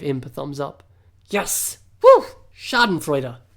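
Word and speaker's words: Schadenfreude: freuder Samuel gave imp a thumbs up yes shardan Freer pronounced it right so we get a kick out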